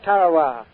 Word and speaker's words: Tarawa: and gentlemen to the tiny island in the mid-pacific called tarawa that pronunciation incidentally is from the national geographic society that island will never